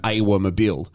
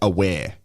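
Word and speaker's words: Awer: So uh in Adelaide United for example we had a player that traditionally here um they call him Awa but his his name is pronounced aware so I will always say how he likes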